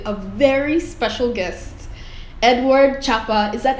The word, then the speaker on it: Chapa: I am here with a very special guest, Edward Chapa. Is that how I pronounce your last name?